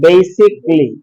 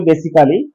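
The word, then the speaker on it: basically: বেসিকলি। যদিও আমরা বলি বেসিক্যালি, ইংলিশ আছে কালি আলি শালি এরকম উচ্চারণ হয় না, ঠিক আছে?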